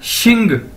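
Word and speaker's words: xìng: Pass x आई एन, एक्स को मैंने बताया था पिछली वीडियोस के अंदर भी कि इसको हम शीन से प्रोनाउंस करेंगे, यानी एक्स शीन बोला जाता है चाइनीज के अंदर, तो यानी एक्स आई एन शिन। अगर इसके साथ हम जी लगा देंगे तो ये क्या बन जाएगा, शिंग, एक्स आई एन जी, शिंग, और इसका मतलब क्या है, लास्ट नेम।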